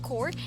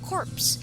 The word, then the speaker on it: corps: does not realize that he is mispronouncing the word core as corpse so instead of saying usp score he said usb's corpse not knowing that core refers to a group of people while corpse means a dead body so now do you